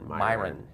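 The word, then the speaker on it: Miran: Myron.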